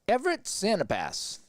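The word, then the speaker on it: Everett Sanipass: And Everett Santapass, as that's how you say his name.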